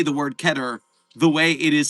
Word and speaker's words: Keter: Uh just because people see that it looks like the word meter does not mean it rhymes with it.